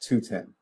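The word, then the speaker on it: 2/10: I mean it's just something we say constant and that is the way we pronounce that two this two slash 10 is pronounced 210 okay we just say 210.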